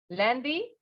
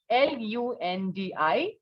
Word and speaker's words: lundi: So, let us recapitulate what did we learn along with the pronunciation and spellings. We have Monday. What is it? Très bien. Lundi. Lundi.